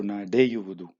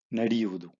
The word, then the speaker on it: ನಡೆಯುವುದು: The u is added as a sandhi because nade is the verb. Wudu is here. In between, you have to use the u in order to pronounce it properly.